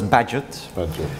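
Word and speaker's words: Bagehot: namely the financial settlement I almost wanted to pronounce the name of the column in The Economist which I think should be pronounced as Badgett but we asked for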